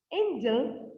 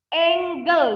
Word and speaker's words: angle: Nanti orang yang dengar itu, hah, angel 135 degree? Apa itu? Malaikat sebesar 135 derajat? Gak mungkin karena, iya ini angle sudut ya, angle. Ingat, remember how to say it. Angle, not angel ya.